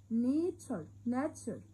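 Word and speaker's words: nature: الطبيعة اسمها نيتشر، وما ننساش التي واليو والار والاي بنطقهم تشر، نيتشر.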